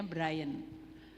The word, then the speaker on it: Brian: Brian atau Brian soalnya kalau saya tulisan Brian itu is Brian is ok katanya bacanya Brian.